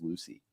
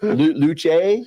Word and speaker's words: Luce: The only one I don't go with is Lucy. So it's Luce or Luce. It's like Django Unchained. You're like, the C is silent.